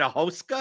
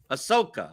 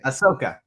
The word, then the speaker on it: Ahsoka: pronounce that wait uh is that a hoska is that how you pronounce the Star Wars that's okay Ahsoka okay Ahsoka right yeah you can find